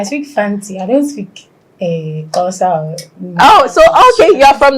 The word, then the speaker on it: Xhosa: I don't speak Xhosa. Oh, so okay, you're from that tribe that. Yes. Apparently, Zulus and like other tribes also do the click, but Xhosas do it more than.